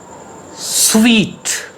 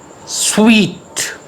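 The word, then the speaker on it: suite: rag she gave a nonchalant next word s-u-i-t-e sweet sweet a set of connected rooms in hotel sweet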